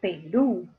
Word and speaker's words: Perú: Perú o Perú. Ah, Perú. Entonces, en la última, o en el último lugar, o en la última sílaba está la mayor fuerza de voz. Ahí está la sílaba tónica. Y termina en vocal. La regla me dice que le coloque tilde.